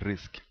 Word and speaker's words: RISC: a complex task risc risc is pronounced risk and it stands for